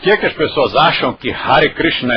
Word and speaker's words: Hare: Então, como se pronuncia isto? Hare. Tenha ou não o acento, quer dizer, a pessoa que estiver escrevendo, se ela pôs o acento ou se ela não pôs o acento, a pronúncia é sempre Hare.